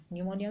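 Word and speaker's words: pneumonia: है प्ले और निमोनिया निमोनिया में पीस साइलेंट होता है ओके तो पीपीपी यानी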